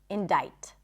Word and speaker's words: indict: When you come across it, it makes sense that you'd assume that the C is pronounced, but it's not. Indict.